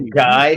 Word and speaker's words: Guy: That would be Guy. To the center. That's how you pronounce the French way of pronouncing Guy.